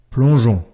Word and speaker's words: plongeon: Souviens-toi, la lettre G devant E, I ou Y se prononce je.